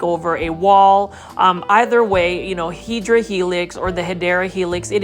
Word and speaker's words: Hedera helix: Every plant foldie's favorite plant, this is the Hedera helix, or the correct way to say it is Hedera helix.